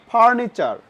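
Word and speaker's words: furniture: এবং last one, ফার্নিচার। ফার্নিচার মানে আমরা বাসা বাড়িতে যে টেবিল চেয়ার ব্যবহার করি সেগুলো হলো আসবাবপত্র। বাংলা হলো আসবাবপত্র, ইংরেজিতে বলে ফার্নিচার। টিইউর উচ্চারণ কার মতো হলো? তাহলে চর মতো।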